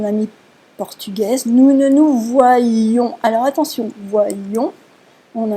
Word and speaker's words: voyions: Et quand on prononce, on accentue. Nous voyions, lion, nous voyons.